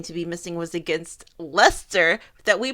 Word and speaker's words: Leicester: channel we are shooting from Lester not leister thank you very much no just kidding so we have an announcement we will no longer be pronouncing like Lester as leister fictional are due to